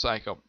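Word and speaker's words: Saiko: called this weather gets not spelled psycho but it's pronounced psycho she shows up and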